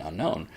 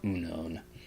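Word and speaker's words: Unown: unknown down I was because of the way it's spelled I always want to call it unknown same comes vivillon vivillon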